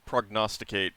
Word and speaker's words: prognosticate: But the G is pronounced. It is not silenced. Yeah. Prognosticate. Like prognostication. Oh.